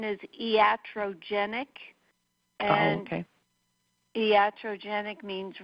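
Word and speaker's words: iatrogenic: version there I updated every few years the pronunciation is e at row genic okay yeah Cho genic means relating to illness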